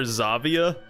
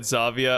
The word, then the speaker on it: Xavier: Well, I mean, yeah, you can pronounce X as a Z, and then some French words do end with an ER, you know, pronounce like A.